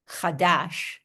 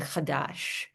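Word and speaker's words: חדש: Hebrew word for new, chadash, are exactly the same. They have the exact same otiot, the exact same letters, chodesh and chadash, right? And they only differ in their pronunciation.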